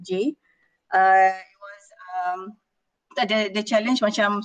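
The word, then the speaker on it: Jai: So it's like difficult for his wife, which is nama dia Jay, spells J-A-I, but he said to pronounce it Jay.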